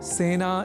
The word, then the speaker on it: सेना: एक शब्द है सेना, जिसका प्रयोग सेना इस रूप में ही करना चाहिए, क्योंकि सेना में स इस अक्षर के बाद ए इस अक्षर का प्रयोग हुआ है। अतः सेना इस शब्द के उच्चारण में ए इस स्वर वर्ण या अक्षर का ही प्रयोग किया जाना चाहिए, न कि ऐ का।